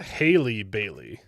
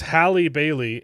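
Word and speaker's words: Halle Bailey: Is it It's not It's not Haley Bailey. It's Hali Bailey and Hal Berry.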